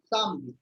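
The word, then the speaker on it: samedi: This E is not spoken here. It's pronounced as Samdi, Saturday.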